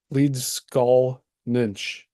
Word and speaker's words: Leedskalnin: a spelling and pronunciation I've been saying uh what is it leads leads skull ninch is really his the way that you would pronounce his Lan name so if you see me adding the Cinch or nych at the end of his last name that's why I'm not necessarily mispronouncing it I'm pronouncing it the way that it existed originally so all right we'll